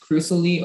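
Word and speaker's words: crusily: can i have all the information the hurricane pronounced crucially or crucially it's an adjective it's from middle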